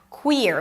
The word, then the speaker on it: Queer: Queer has a high e sound and then you shift to the r. Queer.